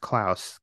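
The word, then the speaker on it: Klaus: you ever read um I think it's pronounced clouse KL a s by Grant Morrison and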